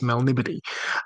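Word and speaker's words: Melniboné: many years ago, I I pronounced it in my head as Melnibone. Uh which it may be, but I've I've been told um Oh, sure. Since then it was it's Melnibody.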